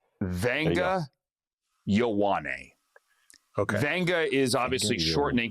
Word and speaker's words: Ioane: The guard out of Penn State, Andrew, I'm going to let you pronounce this because I butchered his name like 100 times at the combine. Okay. It's Vanga Ioane.